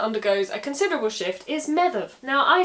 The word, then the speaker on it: Medb: Now the DH sound in medieval Irish would be a th, and the BH would be a v, hence Medb. In modern Irish though, the DH becomes silent, which leaves you with something more like Maeve, and that's how it's generally anglicised.